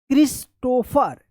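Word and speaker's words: Christopher: क्रिस्टोफर क्रिस्टोफर वाज देखिए यहां पर सी एच आर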